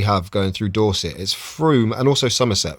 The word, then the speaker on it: Frome: already round there it says from but it's pronounced Froome and it's um one of the rivers that we have going through Dorset is Frome and also Somerset Froome United breweries now uh and I'll just show